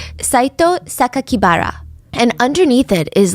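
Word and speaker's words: 酒鬼薔薇: The press read the kanji, so like the Japanese characters for Saito Sakakibara, and instead of pronouncing the way that he intended, the killer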